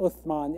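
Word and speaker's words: عثمان: European language is otoman and the Arabic the Arab pronunciation being Usman it's an Arabic name um so if you're curious why the Adan say Osman why do we say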